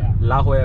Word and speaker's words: La Jolla: और हम लोग पहुँच गए हैं ला होया बीच पे। अब बोलने में इतनी देरी क्यों हुई, क्योंकि इसका स्पेलिंग इसकी बिल्कुल अलग है और नाम इसका बिल्कुल अलग है।